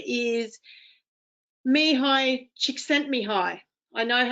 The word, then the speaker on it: Csikszentmihalyi: And his name is Mihai Csikszentmihalyi. I know how to pronounce his name because someone once asked me